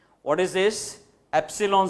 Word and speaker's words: epsilon: 0 what is this epsilon 0 this symbol is to be pronounced as epsilon 0 e p.s.i L